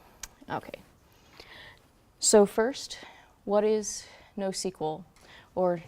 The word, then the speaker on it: NoSQL: Okay, so first, what is NoSQL, or NoSQL if you pronounce it that way?